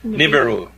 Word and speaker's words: Nibiru: Nibiru.